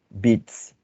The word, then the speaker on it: Witz: En realidad, lo que Freud sitúa como chiste es lo que en alemán se escribe Witz.